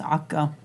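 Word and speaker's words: عكا: In Arabic it's pronounced Akka.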